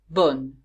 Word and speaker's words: bonne: Bon, bonne. Here's an example of the double N. And of course, in the feminine form, I hear the N.